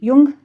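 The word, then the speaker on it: Jung: युंग हम इसको pronounce करते हैं, जुंग पढ़ना है तो आप कर सकते हो, वैसे इसको युंग पढ़ते हैं।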